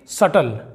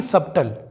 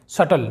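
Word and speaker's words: subtle: दोस्तों B silent है इसे हम पढ़ेंगे सटल ना कि सबटल कई लोग इसे सबटल पढ़ते हैं सटल जिसका मतलब होता है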